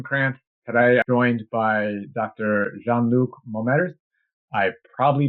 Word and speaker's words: Jean-Luc: So, my name correctly pronounces Jean Luke, but you can call me Jean Luke of course if you like it's bit like lucky look.